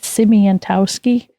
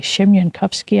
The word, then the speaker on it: Siemiankowski: Oh, we were told to say it Siemientowski. Okay. It's actually Siemiankowski, I guess, if you say it right.